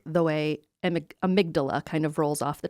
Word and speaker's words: amygdala: And I have heard it pronounced a few different ways. Amigdala. I like the way amygdala kind of rolls off the tongue.